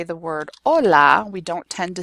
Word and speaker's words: hola: So the H is always silent.